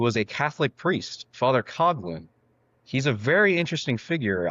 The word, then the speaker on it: Coughlin: Well, it's pronounced Coughlin, but it's pronounced like cough and then Lin. It's like Okay. Father Coughlin.